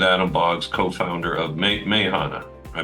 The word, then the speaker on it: Meahana: been talking with Adam bogs co-founder of May Mayana I pronounced that correctly yeah Mayana and uh Adam thank you for the walkth